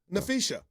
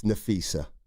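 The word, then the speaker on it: Napheesa: Nfisha. The beautiful Nfisha Cer. Uh it's Nafisa. I call her Nfisha. That's not how it's pronounced.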